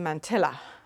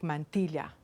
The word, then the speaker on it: mantilla: Well, when we were little in Ireland, it was a mantilla. We had absolutely no idea. It was just this word that we took completely for granted. And of course, the real pronunciation is something more like mantilla.